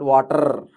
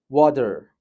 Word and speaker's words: water: So when it comes to British and American pronunciations, as we know, in our first webinar session, we discussed R is not pronounced unless it has vowel beside it. If next to R, if we have vowel, only then we will pronounce R. If next to R, if there is consonant or if there is nothing, we can skip the R. We need not pronounce R. So here it's water, water, water.